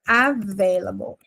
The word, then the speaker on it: available: You are available. Available. Available. Vou até colocar pronúncia. Ela é meio chatinho de falar a ve e a gente vai com muita força nesse veio. O stress tá nele.